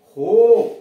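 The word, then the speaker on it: hope: आया है, उसके पहले ओ, इस ओ का उच्चारण ओ जाए तो नोज, नाक। होप, HOP, होप, आशा।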